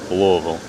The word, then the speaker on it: Louisville: And she describes it as you have to say it like you have a mouth full of marbles. Louisville.